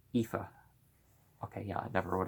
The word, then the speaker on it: Aoife: the second of whom was named ah boyf pronounced Aoife okay yeah I never would have thought that